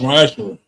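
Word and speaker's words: מעשר: and 8 through 10 means 10th in the Hebrew, and it's pronounced Ma'ashra.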